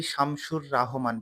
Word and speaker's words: শামসুর রাহমান: শামসুর রাহমান, অনেকেই শামসুর রাহমান বলে, রাহমান বললেও ভুল হবে, শামসুর বললেও ভুল হবে। শামসুর রাহমান, এরকম উচ্চারণটা।